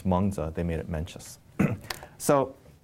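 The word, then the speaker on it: Mengzi: the second great confusion menchus in the chinese pronunciation is manza they made it mencious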